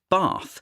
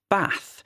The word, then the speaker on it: bath: UK, in the south, we might pronounce the place where we wash ourselves as bath, with a long R, but a person from the north of England would pronounce it bath, with a short ah sound.